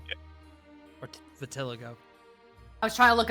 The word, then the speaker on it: vitiligo: Valitigo. Yeah. Or Vitiligo. I was trying to look up the pronunciation.